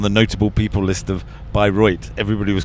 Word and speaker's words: Bayreuth: Well, you you've said it wrong lots of times, but we are reliably told that the name of the city to which we are currently headed is by Roy.